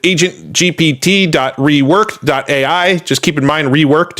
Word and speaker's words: Reworkd: Just keep in mind, reworked is spelled REWORKD with no E between the K and the D there.